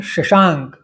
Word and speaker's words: शशांक: इसलिए मैंने शशांक ये संस्कृत शब्द को कंस में शशांक शा पे बिंदी देकर बताया है, जिससे उच्चारण स्पष्ट हो जाए।